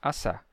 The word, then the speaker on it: assar: simples no som né a gente escreve dois mas a gente não pronuncia assar a gente só diz assar e ele mantém o